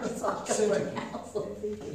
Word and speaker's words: Syntyche: Syntyche. Yeah, they pronounce it syntyche, yeah, with the emphasis on the sin.